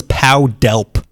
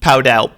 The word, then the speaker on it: Pow Delp: First name P-O-W. Like a prisoner of war. Maybe that was his nickname. His last name was D-E-L-P. Powdelp. Powdelp. It sounds like if you get hit twice by Batman.